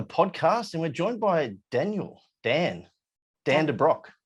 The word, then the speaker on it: de Brock: All right, we're back with another podcast, and we're joined by Dan de Brock. Did I say it right? Yeah, you actually did. Most people go Dubrocky.